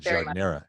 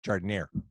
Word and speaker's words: giardiniera: Well, and once you enter Chicago or the Midwest, the pronunciation changes. It becomes giardiniera in Chicago. It's not giardiniera, it's giardiniera.